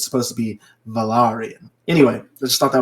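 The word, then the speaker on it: Valyrian: even teaches her High valerian and I realized uh watching a special for Game of Thrones that it's not pronounced the Valerian it's technically pronounced valarian so the actors who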